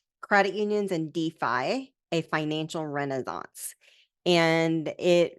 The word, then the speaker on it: DeFi: one question right there you pronounce it Defi and not defi I know it's spelled